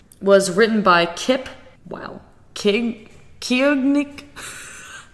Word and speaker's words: Koenig: Kiognik? How do you pronounce this? Koenig.